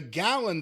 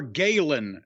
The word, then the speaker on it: Galen: How do you spell that? Galen. Okay, that would be more Galen Center than Gallon Center, like a gallon of milk.